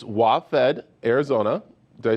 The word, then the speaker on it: WaFd: Yeah, I want to make sure it's WaFD, Arizona.